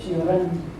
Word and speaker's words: Cioran: Estas reflexiones nos hacen pensar que, como dice Cioran, o Cioran, como pronuncian los rumanos, el hombre es objeto, no es sujeto de la historia.